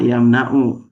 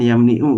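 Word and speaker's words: يمنع: Mana yamnau ini huruf halqinya ain ada di lam fi'il maka dibacanya yamnau jangan yamniu jangan yamnuuu ya manaa yam nana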